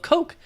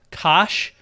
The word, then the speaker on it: Koch: Like an American can't really pronounce it that well. So the Americanization happened and it got turned into Coke. But it also got turned into Kosh, because CH can make a ch sound.